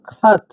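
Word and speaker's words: хат: দেখুন এক্স এর মত এক্স এর মত এটা হচ্ছে খ উচ্চারণ হয় কে এই মেনলি এটা উচ্চারণ হয় হচ্ছে এইচ এর মত এটা রাশিয়ানে এইচ এর মত উচ্চারণ হয় কিন্তু কাদার ভাষায় এটা এইটার আগে এটা কে বসবে উচ্চারণ হবে ঠিক আছে উচ্চারণ হবে উদাহরণটা আমি আপনাদের বলে দিচ্ছি দেখুন খাত খাত মানে কিন্তু চিঠি খাত লেখা চিঠি লেখা খাত মিলে আছে কিন্তু অনেক শব্দ এটা এই কে এইচ এ টি সাত সাত মানে চিঠি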